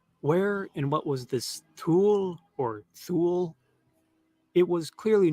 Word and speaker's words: Thule: near a mysterious land he called Thule, or maybe pronounced Thule, or Thule, or Tile. There are many possible pronunciations. We can't even pronounce it.